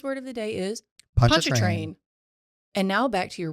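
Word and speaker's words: Pontchartrain: you're pronouncing that wrong my word today is punch train don't ask me to spell it but I know it's got a Char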